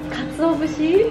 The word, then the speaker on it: katsuobushi: How do you pronounce it? The katsuobushi.